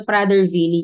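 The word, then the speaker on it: Prader-Willi: Next we have the Prader Vily syndrome. So pronounced as V yung W. So might be because of its uh German origin kasi sa Germany ' ba yung W pronounced as V no?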